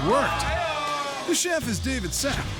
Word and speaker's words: Sapp: The chef is David Sapp. Even his name rhymes with app.